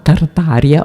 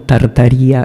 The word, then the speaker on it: Tartaria: Ecco, questo è invece la Tartaria o Tartaria perché viene pronunciata nelle due maniere, va bene?